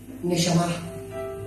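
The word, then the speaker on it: נשמה: A ver, ¿qué era el aliento, ¿sabe cómo se pronuncia esa palabra aliento? Neamá, así se pronuncia la palabra neamá.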